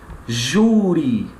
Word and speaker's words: júri: é ue certo é aquela sílaba que está na posição de maior intensidade aquelas sílaba tônica por isso que a palavra ela é paroxítona Por isso que eu digo júri certo então júri só é